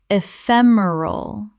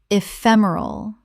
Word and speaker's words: ephemeral: Word 254 ephemeral Common mispronunciation ephemeral Correct pronunciation ephemeral Four syllables with the stress on the second.